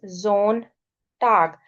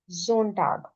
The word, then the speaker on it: Sonntag: क्योंकि ए से पहले एस है, ओ से पहले एस है, ए एंड O both are vowels, so S sound will be एज z. So this is Samstag, Sonntag. अब आप मेरे साथ एक दफा प्रैक्टिस करें.